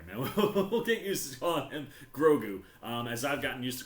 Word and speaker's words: Grogu: the child this is grogu grogu everyone everyone grogu i i think it's gotta catch on um because it's two syllables like yoda grosgu it's it's lining